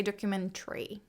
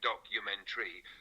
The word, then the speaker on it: documentary: influence pronunciation doc Menor places a bit more emphasis on the u sound in the second syllable meanwhile in American English